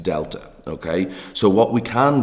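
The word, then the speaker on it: Δ: letter delta it's this triangle here and it's pronounced delta okay so what we can do is shorten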